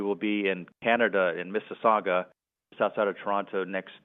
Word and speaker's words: Mississauga: Yeah, and I give you points for pronouncing Mississauga right.